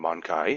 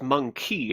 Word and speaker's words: Monkai: you look at that I am calling them Monkai, and you are not Monkai. It might be his word for human. Maybe. You know it is pronounced monkey in their case, yes? I think I know my own language, sir. That is a different word.